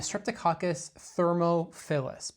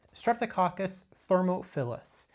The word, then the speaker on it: Streptococcus thermophilus: to touch on the Streptococcus thermophilus. Pay attention to the way that is pronounced. It is thermo, which is heat, philus meaning it loves that.